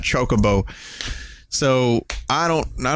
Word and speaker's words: Chocobo: I was a kid he thought it was legitimately pronounced Chaka boo and not chocobo so I don't know